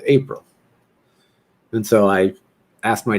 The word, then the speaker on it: Aprille: how to say it i'm going to change the pronunciation to april and so i asked